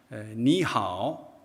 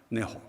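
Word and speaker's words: 你好: 이게 이제 니하오, 그렇죠. 니하오입니다. 이게 이제 만다린어를 기초로 하는 보통어라고 하는데, 보통화. 그 발음이 니하오라고 하면은 광동 지방에서는, 홍콩에서는 이 니하오를 어떻게 하시는지 아시죠? 네호.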